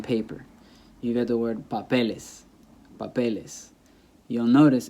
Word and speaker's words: papeles: Once I add ES, the stress stays there because it's on the second to last, papeles, papeles y papel, okay?